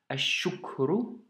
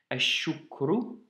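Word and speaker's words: الشكر: Donc shedda, le alif lem s'écrit mais ne se lit pas. Donc si tu dois lire ce mot seul, ashukru, ashukru.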